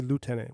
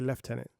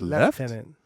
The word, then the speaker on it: lieutenant: We don't say lieutenant, we say left tenant. It's not lieutenant. No. L I E U T. It's leftenant.